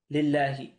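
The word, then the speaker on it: لله: Now, how do I know to read this lillahi? Well, the original word is spelt like this, Allah. Now, what I could do, if I wanted to add a lam, I'd write it like this. But you don't need to do that. Why? Because there's already a lam here. And this lam is silent in the actual word. This lam is a silent lam here.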